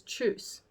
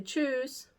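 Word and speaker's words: Tschüss: most like universally accepted is truce and they'll say choose it's spelled very strange but it's almost pronounced like choose yeah except it's within uh um not voice s truce so choose yeah it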